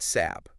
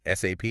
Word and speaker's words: SAP: It's not SAP. Forget saying it like a word. No, definitely not. You have to spell it out. SAP every time. SAP. Apparently saying I took an SAP course is well it just doesn't sound right in that world. It really doesn't. Yeah. So takeaway number one spell it SAP.